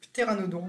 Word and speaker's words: pteranodon: Dans la culture populaire, pteranodon, c'est LE ptérosaure avec un grand P que les Anglais ne prononcent pas, et qu'on a tendance